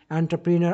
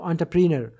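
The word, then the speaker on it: entrepreneur: প্রফেশনালরা আসবে একাডেমিক্সরা আসবে এন্টারপ্রেনার আন্টারপ্রেনার উচ্চারণটা কিন্তু অন্টারপ্রেনার তারপর কি বলছে পর্তুগালস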